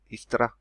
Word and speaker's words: Istra: That's that port that I mentioned down here on the southern tip of the Istra Peninsula, Istra, or Istria, some pronounce it.